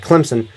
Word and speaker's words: Clemson: who knows and now Clemson Clemson I said Clint Clemson that's not how you pronounce it Clemson uh you all know if you all know